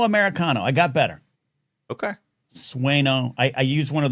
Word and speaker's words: Sueño: Um She's going How's your pronunciation coming? How's it coming? Sueño Americano. I got better. Okay. Sueño.